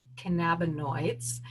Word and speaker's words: cannabinoids: she really counsels people on the use of cannabinoids as I can now learn is the correct